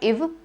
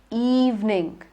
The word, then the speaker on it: evening: It is not ev, but evening.